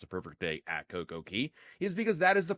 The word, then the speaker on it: CocoCay: pronounce it perfect day Coco Key, not Coco K. Isn't it supposed to rhyme? And the answer is no. It is not supposed to rhyme.